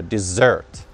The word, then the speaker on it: desert: Ударение на второй слог, в конце слова, desert. А вот с одной буковкой S это desert, пустыня. Desert, пустыня, desert, desert, desert.